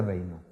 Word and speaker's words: Raynaud: Síndrome de Raynaud, ¿ok? Síndrome de Raynaud o enfermedad de Raynaud. Síndrome de... Así se escribe, francés.